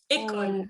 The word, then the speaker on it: école: Dans mon cas, il y a un parc, une école, École. Recuerda, no se pronuncia la E final. École.